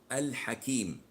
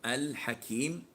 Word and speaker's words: Al-Hakeem: dealing with moon so the L is obvious as in the name of al Hakim so al Hakim the L here is audible you can hear it you can say it and pronounce it so what is as